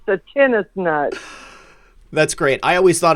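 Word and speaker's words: tensnut: and i love to play tennis so it's pronounced the tennis nut that's great i always thought it was like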